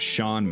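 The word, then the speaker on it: Sean: by a lovely fellow by the name of Shawn Maps spelled c EA an Maps I asked him and that's how he said it was pronounced so that's how I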